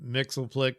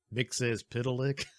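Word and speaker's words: Mxyzptlk: might and Mr well I always called him Mixel Plick because of Super Friends but of course that is not the proper pronunciation his name is mixes Pik which sounds perverse but it's of course it's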